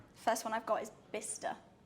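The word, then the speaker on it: Bicester: one I've got is bista like o-r-e-r okay b-i-s -t-o-r or t-e-r v-i-s-t-r-e I don't know surprisingly it's got C in it so it's b-i-c-e-s-t-e-r oh wow well okay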